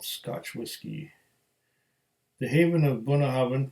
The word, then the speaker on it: Bunnahabhain: nihilist single malt scotch whiskey the Haven of buna haben pronounced born how ya like I've been pronouncing and meaning mouth of